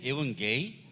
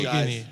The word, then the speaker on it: Yevgeny: Oh, I thought it was even gay. I'm sorry. Oh, okay. How do you say it? Yevgeny. He calls you Yevgeny. I'm teach you. Yevgeny. Even gay. No. No? Listen to me. Yevgeny.